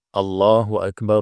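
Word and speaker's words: الله أكبر: Ya perhatikan di sini ada Alif atau yang dinamakan dengan Hamzah wasal Hamzah wasal ini dia dibaca fathah dia dibaca fathah seperti ini ya dibaca fathah ya kita baca dulu allahu akbar allahu akbar allahu akbar allahu akbar ya di sini fathah ya Ini dibaca fathah Jangan dibaca e ada yang baca allahuakbar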